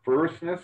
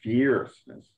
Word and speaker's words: fierceness: together it's more likely you have an open pronunciation so it's it's it's not fair firstness it's fierceness okay so again another heavy verse so who